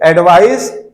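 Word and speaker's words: advice: ध्यान दीजिएगा आप लोग, एडवाइस नाउन है, एडवाइज इसको एडवाइस कहते हैं, इसको एडवाइज कहते हैं। यह स, इसका प्रोनाउंसिएशन चूंकि सी के बाद ई आया है, मैंने बताया था आपको कि सी के बाद यदि ई और आई आए और वाई आए तो सी को स पढ़ते हैं।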